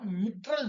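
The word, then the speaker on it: mitral: पाई cuspid valve है, इसको हम मिट्रल वॉल्व भी कहते हैं या माइट्रल वॉल्व भी कहते हैं, depends on your pronunciation, depends on your accent. ठीक है, मिट्रल या माइट्रल।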